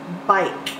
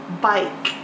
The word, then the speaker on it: bike: with the K because you can't hear the silent e the E makes the I say its name but I bike I like with the silent e I ke bike good job the